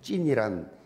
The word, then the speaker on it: 찐: 요즘 청소년들이 잘 사용하는 말 중에 찐이란 그런 표현이 많지요. 찐이 무슨 말이냐? 진짜, 오리지널 그런 줄임의 말이에요. 그 진짜에서 진을 가지고 좀 세게 그렇게 발음한 것이 찐이에요.